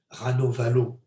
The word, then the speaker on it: Ranavalona: lors des étapes les rats nova l'eau en france et en français parce que semble-t-il on ne prononce pas la dernière syllabe donc ça s'écrit ranavalona